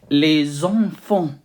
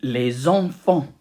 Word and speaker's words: enfants: Children, normally les enfants, but we put the listen and we say les enfants, and we don't pronounce the T and S at the end again. Say with me, les enfants, les enfants.